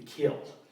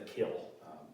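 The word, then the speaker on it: Kiln: And it was in a town called The Kill. It's spelled K-I-L-N, but the locals called The Kill, Mississippi.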